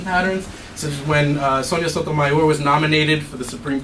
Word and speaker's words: Sotomayor: And this idea that saying Sotomayor with the final syllable stress is unnatural.